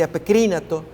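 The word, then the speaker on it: ἀπεκρίνατο: Allí apokrínato es la pronunciación de ese verbo.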